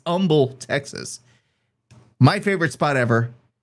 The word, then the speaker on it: Humble: You don't say it's not Humble, even though it's spelled Humble. It's Humble, Texas.